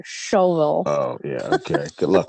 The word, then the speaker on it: Shelbyville: We're in a place called It's spelled Shelbyville, but apparently you're supposed to say shovel.